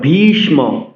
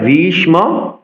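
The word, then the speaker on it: ভীষ্ম: দ্রুণ প্রামুখাতা আট অক্ষর ভিষম ভি মহাপ্রাণ উচন করতে হবে দীর্ঘস্বর দেখুন বাংলাতে কিন্তু আমরা বিশ্ব বলি সংস্কৃত উচ্চারণের ক্ষেত্রে আমাদের প্রতিটি বর্ণের সতন্ত্র উচন করতে হবে বলতে হবে ভীষম ভীষম দ্রুণ প্রামুখতাহ আট অক্ষর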